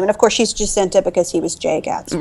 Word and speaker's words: Jacinta: My boyfriend kept calling her Jacinta, and I was like, okay, that's not her name. And Jacinta. Yeah. She's Jacinta. She's Jacinta Trimalchio.